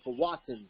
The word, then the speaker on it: Powhatan: Powhatan. Oh, okay. Or Powhatan, some people pronounce it.